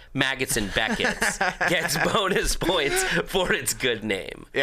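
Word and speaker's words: Maggotts: Maggots and Beckett's gets bonus points for its good name.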